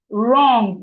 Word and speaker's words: wrong: Wrong is starting with W. Wrong is starting with W. The W in wrong is silent.